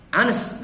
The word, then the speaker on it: honest: Honest, bacanya honest, haknya tidak dibaca.